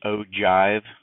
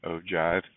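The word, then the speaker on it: ogive: frequency sorry cumulative frequency polygon and this is pronounced o Jive okay o Jive um the the structure of these um your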